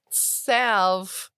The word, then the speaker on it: salve: This is a salve for what ails you. Got him. Was Just look salve up. supposed to rhyme with 12?